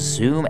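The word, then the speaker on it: Xoom: He was working on, on this, I think it's pronounced Zoom, X-O-O-M.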